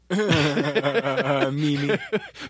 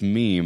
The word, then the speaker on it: meme: When the girl starts to explain what a meme is, she calls it a meme. Mimi. Which cracked me up because now 10 million people know you don't know how to pronounce meme.